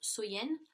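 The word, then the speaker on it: Samhain: Et, si vous voulez, dans le temps des Celtes, la plus longue nuit de l'année donc était Samen, donc qui se prononce Soyen.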